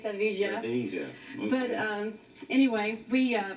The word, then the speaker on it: Sevilla: And we say Seville and they say Sevilla.